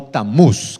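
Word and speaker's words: Tammuz: Y nació así un personaje conocido en la historia como Tamus o Tamús, que sería la pronunciación correcta, Tamús.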